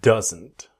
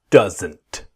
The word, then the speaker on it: doesn't: This video I want to show you doesn't. Let's go. Same basic idea. Does not doesn't. But what happens? The D is silent. It disappears. So we want that strong N.